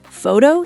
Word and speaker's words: photo: Phone sounds like phone. Photo sounds like photo.